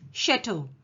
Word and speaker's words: chateau: Now, this story has some French words, so you must pay attention to the pronunciation. It's chateau.